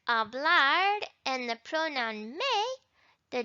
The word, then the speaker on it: habla: And we notice habla. Where's the stress? The emphasis. Habla. It's in this first syllable.